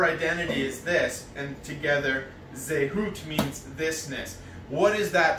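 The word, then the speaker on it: זהות: Hebrew man, is zehut. That's how it's pronounced. I had to Google how to pronounce it because all there was spelling and I did not know how to pronounce the squiggly lines. In the English, the phonetic writing is Z-E-H. Hyphen H-O-O-T, which literally translate this-ness.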